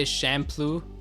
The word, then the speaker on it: Champloo: watched it blind samurai shamplo yeah it sounds like shampoo definitely but it's spelt like champ like champion champ and then blue shampoo let's follow champloo